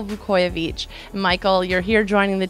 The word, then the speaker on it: Vukojevic: our Rangers family Michael Vuckovich yes we have been saying it wrong this whole time it's Michael vu coy of each Michael you're here joining